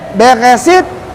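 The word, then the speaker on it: בראשית: Ini bacanya Beresit, Bara.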